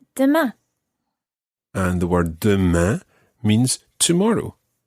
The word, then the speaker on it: demain: And it's really important that you try to get that nasal sound at the end of demain. Demain. Demain. Demain. Très bien. It's not à demain and then leave it open. You've got to finish it off with a nasal sound.